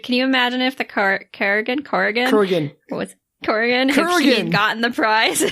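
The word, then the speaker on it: Kurgan: Corgan gotten the prize Kuran k u r g a n Kuran Kuran not krian not corrugated Kuran sorry Kur Kuran no no there's no a it's Kuran Ken two syllables that was really hard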